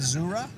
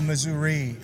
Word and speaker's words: Missouri: on there now I've got to get my pronunciation right in the surah or Missouri I mean just depends on you your your